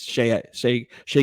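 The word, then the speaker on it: Shai: I would say Shea I used to say his name incorrectly all the time I say shy because it looks like it but it's Shea gildras um same thing with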